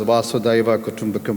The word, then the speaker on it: Vasudhaiva Kutumbakam: So the title below the G20 that you see, the Indian theme is, in the Hindi is pronounced as Vasudhaiva Kutumbakam, which means one earth, one family, one future.